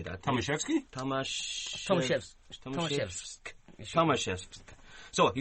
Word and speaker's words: Tomaszewski: Tomaszewski.